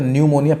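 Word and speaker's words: pneumonia: हूं अब यहां पर सुना है तो न्यूमोनिया पी साइलेंट उपाय अच्छे बोर्ड है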